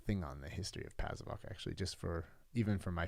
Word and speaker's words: Pasewalk: Pasewalk.